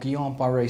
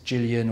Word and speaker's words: Guillain-Barré: I'm saying it with silent letter L's and so shouldn't be mispronounced as Gillian or gilan the condition affects around